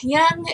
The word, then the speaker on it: Jung: a german guy so it's a german word so i'm gonna pronounce it german like jung that's probably not even right because who knows anyway a long time ago carl yoon came up with the